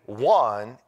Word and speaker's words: Juan: The name Juan is the same as John. In Spanish, it's Juan. Spelled different, pronounced different.